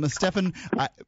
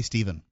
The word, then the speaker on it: Stephan: here stephan kinsella okay Stefan pretty much every time we say your name on the show we say Stephen that's okay I come